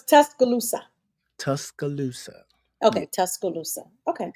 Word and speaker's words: Tuscaloosa: So come on now, Tuscaloosa. Oh. Okay. Tuscaloosa. Okay. But how you say it? That was the country version of it, Tuscaloosa. It is not a "k" in there.